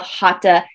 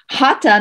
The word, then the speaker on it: hatha: to focus on of hata yoga so again hatha yoga is spelled h-a-t-h-a but it's hat ha because the th in sanskrit does not make the tha sound so it's hata yoga the force that moves